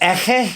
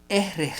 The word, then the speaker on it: Ehrich: Eche? No, Ehrich. Okay, close enough.